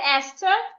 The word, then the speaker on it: Esther: have the word Esther in the word Esther the H is silent and another word is